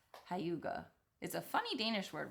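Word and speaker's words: hygge: I guess it looks like h maybe it's pronounced hyuga.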